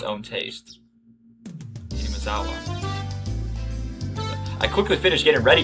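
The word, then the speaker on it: 雛見沢: Hinamazawa.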